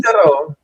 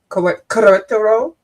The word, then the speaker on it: Querétaro: Querétaro. Querétaro. Yeah. Querétaro. Okay. Yeah, we don't pronounce the U, we just say que, and then you Oh. stress the second I, like quere, and then Mhm.